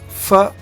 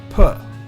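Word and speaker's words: פ: Here, when there is no dot, you pronounce fa. When there is a dot, you pronounce pa.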